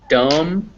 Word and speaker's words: dumb: an m so comb climb dumb you don't pronounce that b uh once again yeah if there's an m before it you don't pronounce it uh you also don't pronoun yeah yeah you never pronounce it after an m oh the reason you can think of this is because that m you already have your lips closed and b you make with your lips closed so you just don't even pronounce it climb because otherwise be